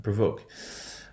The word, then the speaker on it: provoke: So we have our O1 stress pattern, provoke.